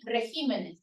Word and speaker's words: regímenes: para estas tres palabras de carácter caracteres de régimen regímenes y de Espécimen especímenes Pero eso no pasa